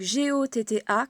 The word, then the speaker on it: gotta: Oui, les deux T se prononcent un peu comme une espèce de L mélangé à un D. Ça, c'est typique de l'accent américain.